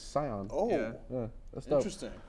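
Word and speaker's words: Tsion: T-S-I-O-N. Yeah, it's like it's Scion.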